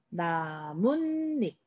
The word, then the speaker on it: 나뭇잎: 근데 여러분들 발음 어떻게 해요? 나뭇잎. 이렇게 발음해요. 자, 여기서 봤을 때 없었던 앞에 니은, 뒤에 니은 들어가는 거 확인할 수 있죠?